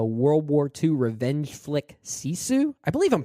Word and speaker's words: Sisu: You'll also talk about the World War II revenge flick Sisu. I believe I'm pronouncing that right. Sisu.